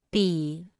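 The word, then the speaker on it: 比: repita en voz alta pi pi pi pi pi pi pi se pronuncia con el tercer tono pi se usa para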